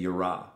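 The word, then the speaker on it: יִרְאָה: I think that's how you say it, yira.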